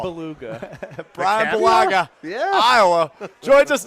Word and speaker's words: Bulaga: They spelled it Bulaga. Bulaga. Well, that's not what he said on Sunday Night Football. Beluga.